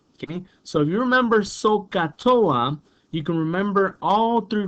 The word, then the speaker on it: SOHCAHTOA: have a phrase okay and this phrase is pronounced sohcahtoa okay so you remember sohcahtoa you can remember all three ratios okay here's